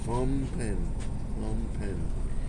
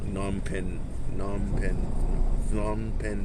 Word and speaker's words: Phnom Penh: Jason King has been educating me on how to pronounce Phnom Penh better. The way that I've pronounced it was the leftover Vietnam War, which is not the way to pronounce it.